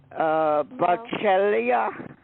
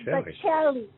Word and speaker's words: Baccelli: Yes, but so shouldn't it be pronounced Baccellia? That's what I thought. No. The thing is, my grandpa put the A at the end. You know what it is really? There's an IA, no? Nope. It's Baccelli. Baccelli. Yeah, Baccelli. Oh, Baccelli. That's how you say it in Italy.